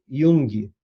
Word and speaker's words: Jung: psicologia analítica foi criada por young e onde que se escreve jung mas é um siena ele